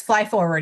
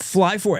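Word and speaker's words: FLYFWD: How do you say the acronym, Lindsay? You got it. It's fly forward. Yes, fly forward.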